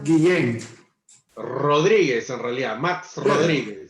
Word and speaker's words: Guillén: Max, tu apellido se pronuncia Guillén.